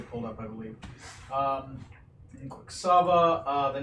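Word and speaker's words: Kuwksafa: it is spelled K-U-W-K-S-A-F-A. Ah. Quicksava. There we go. Spells just like that.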